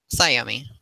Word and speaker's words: Sayomi: Simone, which way is the correct way to say your name? Sayomi. Sayomi. Mm-hmm.